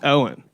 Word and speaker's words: Eoghan: It's spelled Eoghan, but it's pronounced Owen. Oh my. It's Gaelic, yeah.